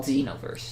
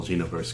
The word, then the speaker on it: Xenoverse: the name Dragon Ball Xenoverse cuz it sounds like you're saying Dragon Ball Z no verse no verse that's great I love that and it's spelled with an X that that's the part